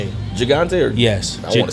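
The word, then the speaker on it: Gigante: I've got Is it pronounced Gagante? This size. So they have the Robustto, the Toro. This is G I G A N T. Gagante. Gagante.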